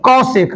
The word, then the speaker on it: cosec: क्या होता है, कॉसेक, बोलिए कॉसेक। प्रोनाउंसिएशन अच्छा होना चाहिए, कॉसेक। कॉस और कॉसेक में अंतर है, कॉस और कॉसेक में, कॉस देखिए COS कॉस, और कॉसेक में देखिए COSEC।